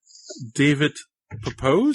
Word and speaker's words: David Pepose: And it is David Pepose.